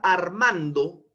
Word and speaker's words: Armando: digo la palabra Armando divido a la palabra en sus sílabas integrantes y tendré ar Man do Pero cuál de estas sílabas es la que tiene una mayor entonación de voz una mayor vocalización un mayor impulso de voz es la sílaba man no es cierto ar